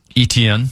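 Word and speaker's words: Etienne: ETN. ETN.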